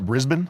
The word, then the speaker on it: Brisbane: And is that how you pronounce it? Brisbane?